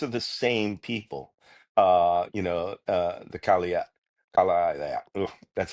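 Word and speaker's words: Kalaallit: The Kalia, that's how they pronounce it.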